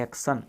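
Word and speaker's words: action: Okay, अब देखो टी के बाद में अपना आई और ओ आ गया तो अपना टी, आई, ओ तीनों से मिलकर के बनेगा से, और एन से ने, इसको पढ़ते हैं एक्शन। यानी कहीं पर भी टी के बाद में अगर आई और ओ मिलता है तो फिर अपन को से बनाना पड़ेगा।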